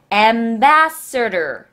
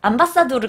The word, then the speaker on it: ambassador: Ambassador. Ambassador. 자, 요거 발음 참 어려워요. 암바사다, 암바사도르 같아요. 꼭 암바사도르. 근데 암바사도르가 아니라 ambassador, ambassador. 이건 그러니까 외국 대사 있죠.